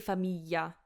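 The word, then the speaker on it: famiglia: it anyway but it's better to say Familia Familia because Romans say it that's just my opinion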